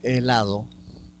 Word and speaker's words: helado: Cuando vemos o pronunciamos la palabra helado, vemos que helado, entonces 0 fonemas, un grafema. Ahí, por ejemplo, la H no representa ningún fonema.